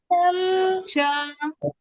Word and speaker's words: च: Cha. Okay? In English, we pronounce it as ka, but here it is cha, okay?